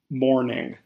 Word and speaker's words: mourning: out of context eight morning this word sounds the exact same as morning but is spelled slightly differently and has an entirely